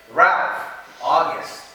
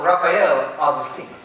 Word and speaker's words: Rafael Agustin: contestant of the finals, Ralph August. Ooh, I seem to mispronounce his name. Put your hands together for Rafael Agustin.